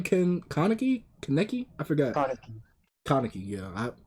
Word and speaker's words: Kaneki: what's his name ken kaneki kaneki i forgot kaneki yeah i i look at how it's spelled that's why i called him kenneke but when he says